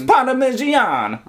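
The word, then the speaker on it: Parmigianino: Yeah, Parmigiano, which actually stands for the little one from Parma. Theano. Yeah. Yeah, Parmigiano. Yeah. It's the Italian, so it's Parmigiano. Okay. But anyway, It sounds like Parmesan.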